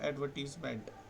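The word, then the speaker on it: advertisement: हमने, that is एडवर्टाइजमेंट, जिसको हम पढ़ते हैं एडवर्टीजमेंट। इसका एक्चुअल प्रोनाउंसिएशन होगा एडवर्टीजमेंट, नोट इट डाउन।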